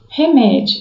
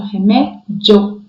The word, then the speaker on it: remédio: O I é mais fraquinho, uma pronúncia mais fraca. E o O, uma pronúncia mais forte. Então, remédio ou remédio, não sei a pronúncia. Normalmente a gente aqui em Minas, a gente fala remédio, né? Então, o I mais fraco e o O mais aberto, mais forte, né?